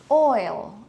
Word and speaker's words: oil: oi oi oi okay so this word for example oil we only have one syllable parihaka Filipino Mex Aleta